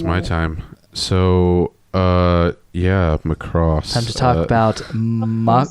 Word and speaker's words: Macross: and I say look if I wanted to say it like the Japanese I'd say makuu dosoo every time and I am NOT about do that so it's Macross I hate I hate when people say Mack Ross even Matt's probably right